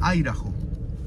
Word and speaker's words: Idaho: Se escribe Idaho, pero se pronuncia Idaho.